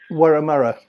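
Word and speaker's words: Wurramara: I can't pronounce her last name. Warramurra.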